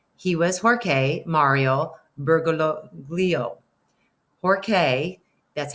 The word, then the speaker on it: Jorge: Pope until then he was Jorge Mario bergoglio Jorge that's how this pronounced may Rio Bear go Leo we're gonna